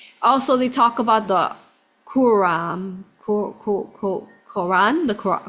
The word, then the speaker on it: Quran: The Quran.